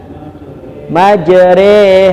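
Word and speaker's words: مجراها: hud ayat 41 ya jadi bacanya itu miring atau disebut dengan imalah ini doa ketika naik kendaraan atau kapal Bismillahi majre ya Bismillahi Ma itu bukan dibaca RI sudah ketemu Mas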